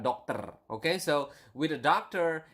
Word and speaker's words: dokter: You need to pronounce the R. Okay, so dokter, not doctor or something like that, but dokter.